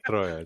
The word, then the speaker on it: Troia: Troia is Troia. Just roll the R.